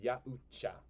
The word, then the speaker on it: Yautja: It's pronounced Yautja.